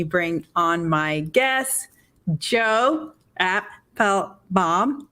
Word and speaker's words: Apfelbaum: Am I saying it right, Joe? You're saying it right, Joe Apfelbaum. That's right. He gave me a 101 tutorial on how to say his last name is 3 syllables.